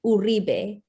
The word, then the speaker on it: Uribe: by the way, co-host with Uribe. Do I pronounce that correctly? Well, I feel like in Latin culture, they would say Uribe, but I have a mixed culture feeling towards all things because I'm multicultural.